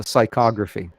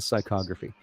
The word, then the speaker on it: psychography: real juice is the psychography it's a p it's a silent p and i love that's